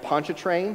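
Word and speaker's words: Pontchartrain: bridge from on Lake Poncha train which I'm very happy that I learned how to pronounce that my Louisiana in-laws were very proud that I could pronounce Lake Poncha train uh but they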